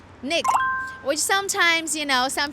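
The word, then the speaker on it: 那个: lot of that and how we pronounce that in Chinese is we say Nick which sometimes you know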